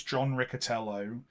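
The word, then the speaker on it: John Riccitiello: think is how you I looked this up because I heard three different pronunciations of this of this name on different things today it's apparently it's John rello and the reason I I believe in that is that is how he was introduced at a Unity conference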